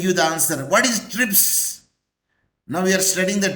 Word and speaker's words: TRIPS: it is acronym Professor it is an acronym because we pronounce as a one word can you say t r i p s no I did not